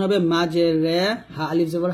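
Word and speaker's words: مجريها: রাখবেন এটা সূরা হুদে আপনারা পাবেন তাহলে এখানে উচ্চারণ হবে মাঝে রে হা আলিফ জবর হা মাঝে হরে ফেলিফ টান দিবেন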